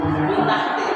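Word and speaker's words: مِنْ تَحْتِهَا: Contohnya adalah min tahti. Min tahti di sini ada mata. Maka dibacanya min tahti, bukan min tahti tapi min tahti.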